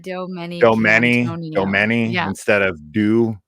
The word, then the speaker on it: DiDomenicantonio: It's very phonetic. Like the way that you would read it at the bottom of the screen is like really what it sounds like. It's just intimidating because it's 8 syllables and 16 letters. So it's DiDomenicantonio.